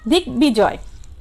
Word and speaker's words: দিগ্বিজয়: এই যে দিগ্বিজয় সন্ধিজাত শব্দে গয়ের সাথে যে ব ফলার সংযুক্ত আছে, হ্যাঁ, সে ব ফলার উচ্চারণ কি রয়েছে ঠিক থাকবে, অর্থাৎ বয়ের উচ্চারণটি আসবে।